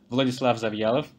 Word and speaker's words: Vladislav Zavialov: So my name is Vladislav Zavialov. It's a Russian name, so no worries if you don't get it right.